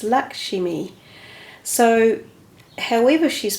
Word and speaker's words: Lakshmi: Now, one of my readers said, you don't pronounce her name Lakshmi, which I always have done. She said it's Lakshmi.